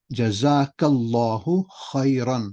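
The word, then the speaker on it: جزاك الله خيرا: But really, it's jaza is reward. The ka is this one here. Ka. Jazakallahu khairan. That's the proper way to say it, right? We just say jazak Allah khair for both, but really for a brother it's jazakallahu khairan.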